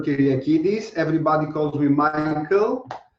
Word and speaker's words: Kiriakidis: by the amazing doctor kiryakiris from embryol have i pronounced your name correctly probably not it's fine sarah don't worry my name is doctor kiriakidis everybody calls me my